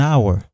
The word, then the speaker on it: hour: in uniform and University and we say an hour DH is silent not a hour fill in the blanks